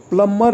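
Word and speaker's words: plumber: से जा रही है प्लंबर इसे बी इसका साइलेंट होगा प्लंबर है यह वर्ल्ड यह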